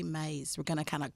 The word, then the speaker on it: Myss: I heard it pronounced Maze. I heard it pronounced mice. So we're going to say Maze.